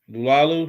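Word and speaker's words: Laulu: Jonah Luallu. Lualu.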